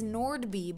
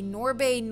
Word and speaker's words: Nordby: they can do it your last name is Nordby but teachers say nor Bane or B and nori anything but Nordby you pronounce the D oh yeah my last